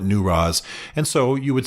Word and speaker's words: Newroz: It's pronounced a variety of ways, but my local Kurdish friends call it Newroz.